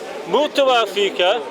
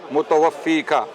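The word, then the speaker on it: مُتَوَفِّيكَ: Ya Isa, inni, mutawafika, right? That's incorrect. Right. Mutawaffiq. Yeah. Your pronunciation is incorrect.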